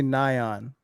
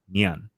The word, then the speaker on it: Nyan: But technically, it should be Nyan, which is the Japanese word for meow.